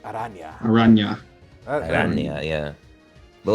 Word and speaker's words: araña: The official or the proper way to pronounce it is araña. Yeah, araña.